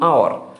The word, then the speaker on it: hour: sound of silent h there are words that start with consonant which is h but h is not pronounced let's see an hour how long and our